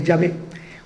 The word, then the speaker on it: Yahvé: La Y, la H, la W y la H. Entonces, la pronunciación, que los entendidos concuerdan en que Yahvé, como después de, después